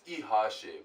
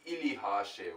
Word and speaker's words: ihashe: So you might see that it's ihashe, but actually you wouldn't say ilihashe, which means horse, but the li, the li, like a cluster of letters, is silent.